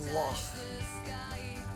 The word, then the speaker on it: loch: It's a loch.